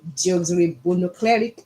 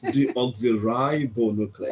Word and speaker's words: deoxyribonucleic: Keeping family secrets isn't as easy as it should be, as like Debo pronounced. I hope God will help me. Okay. Deoxyribonucleic acid, DNA. No, let me help you there. Deoxyribonucleic.